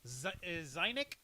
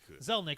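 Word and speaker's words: Zelnick: and its CEO Strauss zainik is that how you pronounce that zainik no no no it's zazelle it's a it's an L Strauss my bad thank you zelnik followed up by saying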